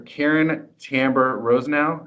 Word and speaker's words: Caryn Tamber-Rosenau: And today we have Professor Caryn Tamber-Rosenau. I pronounced that right?